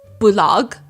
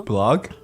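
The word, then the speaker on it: Bullog: So he creates his own business called blog. Huh? Blog. It's spelled B U L L O G. Blog. Blog.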